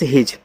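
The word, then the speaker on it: his: एच आई एस हिज एच से आपका हा आई से छोटी इ की मानता है ही एस से आपका यहां पे जा ए आपका हो गया हिज एम ओ यू टी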